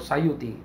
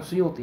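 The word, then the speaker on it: السيوطي: sikah Imam Sayuti assayuti ya bacanya itu Sayuti dari sayut nisbat kepada sayut bukan kepada bukan Suyuti yang benar ya sayut Sayuti Al Imam assayuti Kampung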